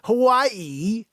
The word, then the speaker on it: Hawaii: Hawaii, Joanne, that's how you say it.